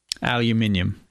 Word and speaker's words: aluminium: And also one of my coworkers asked me to ask you, how do you pronounce aluminum? Aluminium.